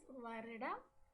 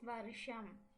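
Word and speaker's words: வருடம்: Just like we saw in the case of months, we speak, when we write, it is varidam. And when we speak, it is varisham.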